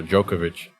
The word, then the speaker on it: Djokovic: Actually, I think the D is silent, so Djokovic.